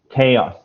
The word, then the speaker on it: chaos: chaos right and yeah the pronunciation is chaos chaos chaos yeah okay yeah right